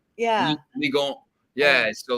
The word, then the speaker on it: Ligue 1: Ligue 1.